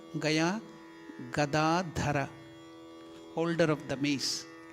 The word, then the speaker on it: gada: We should tell only gada g a da. Don't make a da g a d h a. What will it become? Gadaha. Anybody knows? Gada means donkey. So don't think that Anuman is having a donkey in his hand. So it is G A D A. Gada means mace. Gada not gadha.